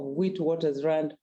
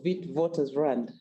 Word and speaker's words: Witwatersrand: at the University of Witwatersrand, or Witwatersrand, as the origin of that name I would pronounce it.